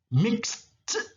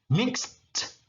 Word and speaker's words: mixed: Mix, kalau pakai ed jadi ada t-nya. Mixed, nah gitu. Mixed, mencampur.